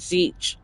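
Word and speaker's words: Tzeentch: Why would you just put Zech? What's the T? to make him look fancy. Well, there's other alphabets that have I know, but it's Zech, but the T is silent like Okay.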